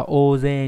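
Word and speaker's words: おおぜい: Thì trong trường này bởi vì là liên quan đến việc đông, do vậy đọc là ô dê nhá. Nghe như là ô dê trong tiếng tiếng tiếng Anh nhá.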